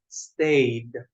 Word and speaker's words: stayed: of the verb I stayed we got to pronounce that D at the end I stayed home stayed I stayed home